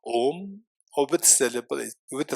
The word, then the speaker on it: Om: The syllable is constituted of 3 letters: A, U, Ma. Om.